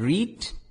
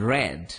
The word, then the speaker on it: read: discussed feel felt and read read yes spelling is same but pronunciation is not read present form and red is the past form okay let's see what